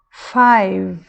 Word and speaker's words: five: name acabou no m nessa outra palavra aqui five esse e não é uma sílaba aqui não existe um som vogal aqui depois do v a palavra acaba no V mesma coisa acaba no